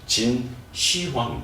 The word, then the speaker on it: 진시황: 그 우리가 진시 이거보다는 그것도 발음을 진시황 이렇게 해주는게 맞죠 약간 뛰어주는게 맞습니다 처음으로 황제라는 그 호칭을